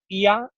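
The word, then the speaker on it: Oia: I threw a bonus excursion that people didn't know about to go up to Ia, O-I-A, it's spelt, which is the amazing shots of Santorini, which you see whenever you Google Santorini.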